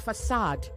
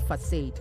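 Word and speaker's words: façade: But it is facade, not facade, okay?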